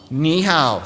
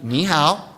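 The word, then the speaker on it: 你好: Ni hao. So you're going to say hello. Let's try this. Repeat after me. Ni hao.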